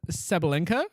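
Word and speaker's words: Sabalenka: So, the world number one that we both know the name of that I can pronounce flawlessly. Uh, it's like Ariana Grande. Ariana Grande. It's Arena Sabalinka.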